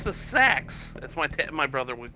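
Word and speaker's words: SA-X: Sax. Actually, that's how I pronounce it. It's sax.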